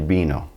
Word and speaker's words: vino: In fact, the B and V in Spanish are going to have the same pronunciation. El vino.